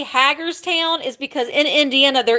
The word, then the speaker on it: Hagerstown: i owe hagerstown the reason why i say haggar's town is because in indiana there is a haggers town and that's the way it's pronounced the teardrop okay lesta send me a